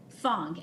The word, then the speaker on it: Fong: thong f-o-n-g okay and uh where were you born